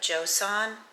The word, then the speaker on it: Joseon: And I ran across this Beauty of Joseon. Is that how you say it? Yeah, Beauty of Joseon.